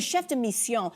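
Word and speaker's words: chef de mission: And say it correctly, friends, the chef deion.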